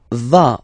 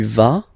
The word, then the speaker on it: vas: Basically, you pronounce it like for the tu, because you don't pronounce the final S, okay? Il va, elle va, okay? Je vais, tu vas, il va, elle va.